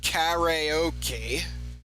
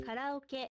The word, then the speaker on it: karaoke: So when we So in English we pronounce this karaoke but in Japan we say koke.